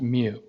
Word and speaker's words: mu: greek letter for small m and this is pronounced mu and this is the mean of the sample